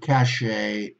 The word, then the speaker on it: cachet: So remember, basically, these are the words that you have to remember about bouquet, bidet, cabaret, cachet, gourmet, ricochet, valet, and debut. Okay, not pronouncing with a T.